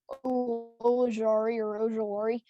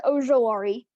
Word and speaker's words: Ojulari: I usually get it mixed up with Ojulari, but it's Azeez Ojulari.